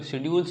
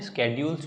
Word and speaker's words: schedules: इस इंग्लिश में इसको कुल शेड्यूल्स बोलते हैं, स्केड्यूल्स भी बोलते हैं, दोनों तरीके से इसका प्रोनाउंसिएशन है।